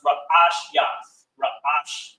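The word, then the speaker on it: ראשית: Last class, we, of course, started going into vocabulary in Genesis, and beginning is pronounced Ra'ash Yath, which means beginning.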